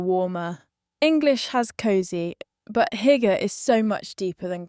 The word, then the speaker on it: hygge: Danish and Norwegian, pronounced Hygge, and yes, it has genuinely entered English usage in recent years. Hygge is the feeling of coziness, warmth and contentment